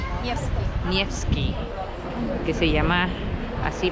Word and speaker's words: Nevsky: ¿Sí es Nevsky la pronunciación? Nevsky.